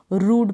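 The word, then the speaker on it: rude: अब यहाँ पर जैसे र्यूड नहीं पढ़ेंगे, इसको र्यूड नहीं, रूड पढ़ेंगे।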